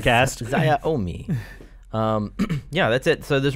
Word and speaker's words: Xiaomi: This isn't the pronunciation cast. Xiaomi.